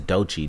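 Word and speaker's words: Doechii: new chick out call i don't know how to pronounce i think it's dotchy d-o-e-c-h you know saying she got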